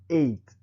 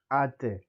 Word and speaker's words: ate: We have to pay attention on how they pronounce their words, as the first one is not eight, that is English for the past tense of English eating. No, this is ate and kuya, Lola and Lolo.